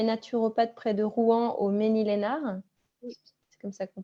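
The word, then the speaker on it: Mesnil-Esnard: Mais en tout cas, donc Émilie Sénéchal, toi, tu es naturopathe près de Rouen au Ménil-Lénard. Oui. C'est comme ça qu'on prononce.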